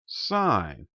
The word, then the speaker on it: sin: forward it's still pronounced sign yes it looks like it spells sin but because this is just the abbreviation for this word it's still pronounced the